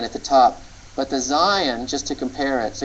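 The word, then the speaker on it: zayin: diagonal that's the Hebrew letter Zion and it's the z sound in Hebrew the next letter that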